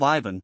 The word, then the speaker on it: Ivan: the churn off government the accent falls on the second syllable of Ivan on the first of Pap alof once upon a